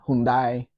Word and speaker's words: Hyundai: And what the one that I always remembers is it rhymes with Sunday. So it's Hyundai, not Hyundai or anything like that.